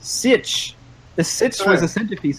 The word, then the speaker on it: sietch: called who doesn't love this is a word from Frank Herbert's dun books it means a place of sanctuary in times of dangers pronounced sit the sit was a